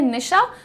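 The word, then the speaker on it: niche: Pronunciation यहाँ पर लिख भी दिया है निश। जैसे आप लोग घर में नाम लेते हैं निशा, तो उसमें से अ हटा दीजिए, निश बोलिए इसे।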